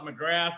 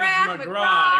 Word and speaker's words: McGrath: always say his name i want to call it mcgrath but it is mcgraw and irish macron irish as they say and we have